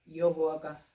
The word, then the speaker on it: 여호와: 옛날부터 우리가 알고 내려온 것은 여호와가 정확한 발음이었습니다.